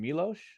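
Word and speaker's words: Miłosz: everything was erased you um I'm probably gonna butcher the the check writer me is it milosh yeah yeah Chase what I mean so the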